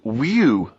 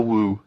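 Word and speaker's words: wewe: It was just W-E-W-E. Let's call it a woo.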